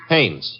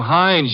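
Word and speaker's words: Haines: Hannes. H A I N E S. Oh. Oh, Hannes. Yeah. Do you know him? Well, there's a fellow named Hines used to fish.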